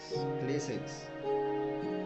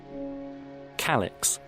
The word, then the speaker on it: calyx: at the way nature manages to create floral clay sex. It's not clay sex. It's clay sex. I have no idea what it means. Okay, I wanna see how it's pronounced. Calyx.